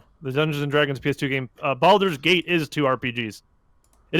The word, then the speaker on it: Baldur's: Hey, I love Baldur's Gate, and I actually like Dark Alliance, It's but it is Baldur's not thing.